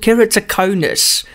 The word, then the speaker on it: Keratoconus: It's called Keratoconus. Dr. Dylan, how's it? Hey, Jan, you pronounced that perfectly. Well done. I don't hear anything vegetable about that pronunciation.